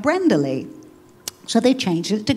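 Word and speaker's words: Leigh: they called me Lee. It was spelled L-E-I-G-H. I went to Mexico. Mexico, they pronounce it as Lech. It's not pretty.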